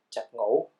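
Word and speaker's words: 十五: So the combination is pronounced as chập ngủ, which means 15.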